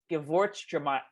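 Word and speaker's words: Gewürztraminer: I looked up how to say it before we started. It's called Gewurztraminer.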